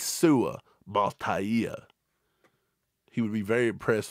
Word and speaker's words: Mataia: I think it's Ia is how he pronounces it. Sua Mataia.